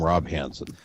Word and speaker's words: Rob Hanson: with K talk so his name is uh Rob Hansen Rob did I pronounce right your name first of all you you sure did it's really hard to mispronounce my name Rob Hansen okay but sometimes you know trust me even